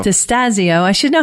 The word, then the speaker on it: Destasio: It's Destasio. Destasio.